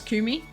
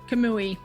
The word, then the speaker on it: Kamui: Kumi. Also, I love how I'm fully saying your name wrong. I'm such a bozo. Kamui, sorry.